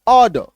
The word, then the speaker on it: order: क्योंकि आर जो है, आर के बाद एक कॉन्सोनेंट आ रहा है ऑर्डर, और र ड र, ठीक है। इसका उच्चारण होता है ऑर्डर, ऑर्डर, इसका उच्चारण क्या होता है, ऑर्डर, क्लियर है। तो अभी यहाँ पे देखिए, यहाँ पे लास्ट वाला भी रॉ साइलेंट है, ठीक है।